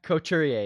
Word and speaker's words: Couturier: Couturier?